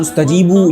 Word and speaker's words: استجیبوا: للہ وللرسول اذا دعاکم۔ اب اس آیت مبارکہ میں لفظ استجیبوا کا الف ما قبل لفظ آمنو سے ملانے کی صورت میں تلفظ میں نہیں آ رہا، یعنی آمنو کے نون کو ڈائریکٹلی سین سے ملا کر پڑھ رہے ہیں، تو استجیبوا میں موجود